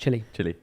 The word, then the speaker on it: Chile: It's pronounced chili.